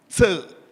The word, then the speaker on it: Tse: My name again is Tse. That very short surname is pronounced Tse.